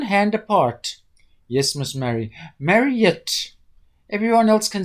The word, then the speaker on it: Marriott: "Yes, Miss Mary." Her name's Miss Marriott, but his inability to pronounce the last syllable of her name had a strange, disturbing effect on Miss Marriott.